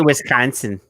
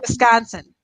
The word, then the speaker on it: Wisconsin: And Wisconsin. You have to get the nasal there. It's not Wisconsin.